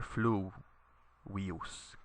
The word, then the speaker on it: fluvius: So nilus fluvius, notice that you put the accent on the u here, fluvius, because the I here is short. There's no macron over it, and it's not a diphthong.